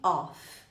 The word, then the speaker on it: of: Todas as vezes que tem um F só, você vai pronunciar como se fosse o V, para fazer a diferença. Off, com 2 Fs, eu pronuncio como F. Of, com um F só, eu pronuncio como V.